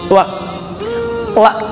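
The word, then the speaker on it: لا: La itu dalam bahasa Arab yang bacanya panjang ya, dua harakat matabi.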